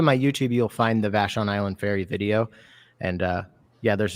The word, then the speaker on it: Vashon Island: How do you say it? Vashon Island. Vashon Island, yeah.